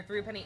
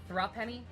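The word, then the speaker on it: threepenny: Pretty sure throughpenny is pronounced like thrupenny? Thrupenny. It's pronounced like thrust.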